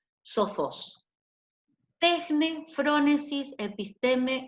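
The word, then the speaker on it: τέχνη: Entonces, tejne, la primera se pronuncia tejne, como una J donde está la CH. Pueden exponerle la J a ustedes.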